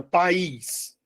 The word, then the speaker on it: país: Olha quantas vezes eu abri minha boca para falar a palavra país. Eu abri minha boca só uma vez. É de sílabo, né? De sílabo. Se tem duas sílabas é de sílabo. Beleza. Eu não posso, não devo e não vou chamar de monossílabo.